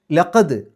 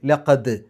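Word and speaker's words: لَقَدْ: ലഖദ്, അവിടെ ദാലിന് സുക്കൂന് കൽക്കലത്തിൻ്റെ അക്ഷരമാണ്, എടുത്ത് പറയണം. 5 അക്ഷരങ്ങൾക്ക് സുക്കൂന് വന്നാൽ അതിനെ എടുത്ത് പറയണം, കുറച്ച് ഗൗരവത്തിൽ പറയണം, അല്ലെങ്കിൽ കട്ടിയിൽ പറയണം.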